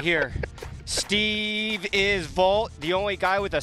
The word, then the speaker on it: Vogt: Oakland Athletics NBA referee right here Steve is Vault the only guy with a silent te in